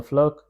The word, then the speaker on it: fleur: This means tu aimes le printemps parce que les fleurs sont belles, because that is you love spring because the flowers are beautiful. Flowers. Pronounced as fleur.